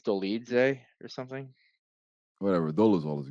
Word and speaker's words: Dolidze: I think it's Dolidze or something.